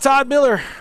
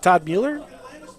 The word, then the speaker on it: Mueller: let's see we got Todd Miller oh I mispronounced that Todd Mueller I was very close there it's not enough